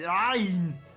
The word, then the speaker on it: ayn: Fun fact: the Arnold voice was how my Arabic instructors suggested how you figure out how to say the Arabic letter, the ayn. It's the ayn. It's the Arabic letter, the ayn. Got to say it that way.